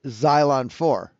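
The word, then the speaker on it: XY3LN4: zylon 4 or whatever but it was xy3 L N4 pronounced xylon 4 the three is silent that that's [ __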